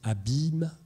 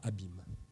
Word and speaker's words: abymes: qui indique en fait qu'on prononce abymes et pas abîme ça ça c'est ça